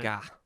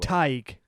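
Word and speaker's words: Tadhg: Tadgi. This one. Tadgi. I'm trying to be creative here. This one definitely sounds nothing like it's spelled. Oh, okay, then just take it away. Tig.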